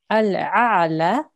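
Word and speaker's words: الأعلى: Okay, now you would change this into a vertical fatha. So you'll pronounce this for 2 seconds. Okay, so first, the original way it will be pronounced is al-a'la.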